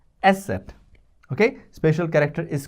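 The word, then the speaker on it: Eszett: beta symbol is called special character is called asset. Esset.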